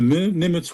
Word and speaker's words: Nimitz: Nimitz, am I pronouncing it? Exactly. Yeah.